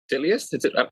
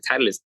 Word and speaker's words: Titleist: The shit, bro, it took me forever, like, to learn the proper way of pronouncing Titleist. It was like, Titleist?